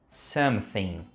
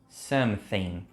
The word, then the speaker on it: something: Eu separei algumas palavras aqui para você treinar, então presta bastante atenção no jeito como eu estou pronunciando para você conseguir copiar aí também. Think, think, something, something.